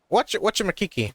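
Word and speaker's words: Wachumeqimeqi: Wachu Makiki. Yeah, that's how to pronounce it.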